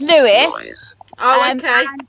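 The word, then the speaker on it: Lewes: are you anywhere near lose that's pronounced lewis yeah ricky wants to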